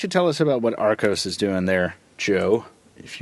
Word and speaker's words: Archos: It's Arcos. Arcos? Yeah. Spell your names the way you want us to pronounce them. Hard CH, brother. Oh, whatever.